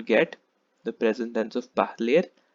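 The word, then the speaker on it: parlent: You have to stop pronouncing just before ENT because the ENT is completely silent. So let me repeat once again. Je parle, tu parles, il parle, elle parle, nous parlons, vous parlez, il parle, elle parle.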